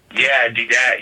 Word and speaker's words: D-Dat: We're gonna end the show with one of your songs from is it D-Dat? Is that how you pronounce it? Yeah, D-Dat.